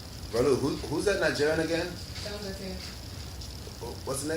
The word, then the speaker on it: Dangote: Dangote. What's the name? Dangote. Dangote? Yeah. That's how you say it? Dangote?